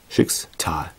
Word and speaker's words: Schicksal: Schicksal. Ne? So wird's ausgesprochen.